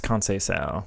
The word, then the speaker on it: Conceição: Okay, chat is informing me it's Conceição, which is a lot easier to pronounce than I thought.